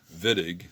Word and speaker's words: Wittig: a german chemist um the germans pronounced the the w uh as a v so this is the wittig reaction um george vittig in 1954 came up